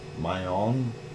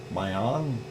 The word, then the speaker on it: Mayon: again there Jane uh you said it's my own my on if I said it right my own okay